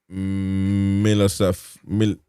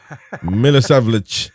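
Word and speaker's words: Milosavljević: And subs for Bournemouth: Dennis Soler, Christie, Kenendoke, Kluivert, Adli, and then you got Krupi Jr., Hill, and Milosavljevic. What? How do you say that? Milosavljevic.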